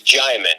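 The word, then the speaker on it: Djimon: It's spelled with a D, but it's Jaimin. The D is silent, like Django.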